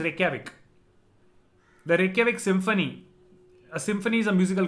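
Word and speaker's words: Reykjavík: It is written with a lot of K's and J's and V's, but the pronunciation is Reykjavik.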